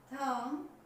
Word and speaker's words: thumb: इसका मतलब ये हुआ कि अगर ठीक बी से पहले एम आ जाए तो बी साइलेंट रहेगा। ये कह सकते हैं एम के बाद बी हमेशा साइलेंट रहेगा, बोला नहीं जाएगा।